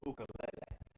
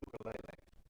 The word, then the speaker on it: ukulele: In Hawaii, though, most people pronounce it ukulele, and I do sort of a hybrid. I do ukulele.